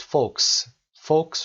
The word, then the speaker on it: folks: خب for most folks رو به این شکل تلفظ کنید. L رو تلفظ نمی کنیم، silent letter هست و به معنای people